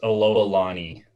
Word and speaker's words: Alohalani: It's pronounced Alohalani, sir. Alohalani.